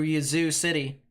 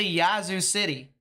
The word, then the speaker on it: Yazoo City: have been saying like usually I say Yazoo City all right but then people said I said it wrong it's a shorter a and so I started saying Yazoo City and I know it's